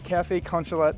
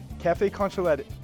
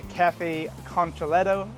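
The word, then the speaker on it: café con leche: Your cafe con leche, how do you pronounce it? Cafe con leche.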